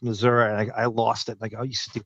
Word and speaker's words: Missouri: And so, a lot of Missouri kids went to Murray State and they would go, "No, it's not pronounced Missouri. It's pronounced Missouri."